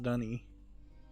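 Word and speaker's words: D'ni: And it's pronounced Dunny.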